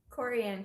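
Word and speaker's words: Korey: Coranne.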